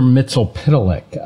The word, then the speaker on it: Mxyzptlk: Mitzelpitalik. That was yeah, my I wasn't sure how to plume. Pronounce his name. Yeah. So Mr. Mitzelpitalik is a Superman supervillain.